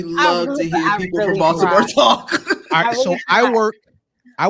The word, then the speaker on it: Baltimore: of women of Baltimore you threw the T in there and really no no I always pronounce Baltimore with the t uh purposely especially in public settings uh that's fair but